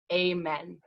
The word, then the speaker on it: Amen: We would love to honor the African American roots of our closing song by pronouncing it Amen.